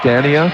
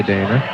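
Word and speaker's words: Danea: I assume the pronunciation is Dana, Scott. It's spelled D-A-N-E-A. I mean, you could pronounce it Dania. I would say Dana.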